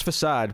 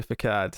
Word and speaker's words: facade: just powered through yeah i know it's facade but every so often i'll slip and say for card it's just when you're